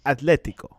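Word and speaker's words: Atlético: Atletico is pronounced with a T, not with a TH. Atletico.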